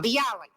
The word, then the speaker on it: bialy: Number 2, what is a Bialy? Is that the way you pronounce it? A Bialy. Yes.